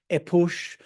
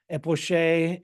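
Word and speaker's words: epoché: And I should say that this term is pronounced in any number of different ways. It could be epoche, epoche, epoche, etc., since in transliterating from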